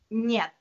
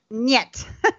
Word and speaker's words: Нет: Awesome pronunciation. and how do you say no in Russian? Нет. Нет.